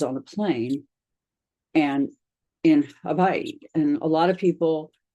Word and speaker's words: Hawaii: And so I came to Hawaii, and it's pronounced Hawaii. The W has a ba sound to it.